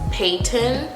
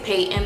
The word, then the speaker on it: Peyton: I emphasize the P but not the T or the Y. Peyton. No, the T. I don't emphasize the T. I don't really say the T.